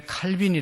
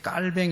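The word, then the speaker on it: Calvin: 줘 창시자 칼 빙 원래 칼빈이 라고 했는데 발음이 이게 깔 병이 맞대 요 그래가지고 이제 깔 헹 깔 병 1 옛날엔 칼빈이 라고 했는데 깔 뱅 이라고 그렇게 이야기합니다 어쨌든 종교 2 장로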